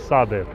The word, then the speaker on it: Shabir: The actual way of pronouncing it is Sabir, meaning the patient one.